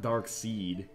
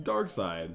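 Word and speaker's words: Darkseid: wait is that doomsday I think it's dark side no not dark seed dark seed it's dark side side okay am I let me let me do I mean I know how it's spelled it's like s d but I'm pretty sure it's just dark side there also a German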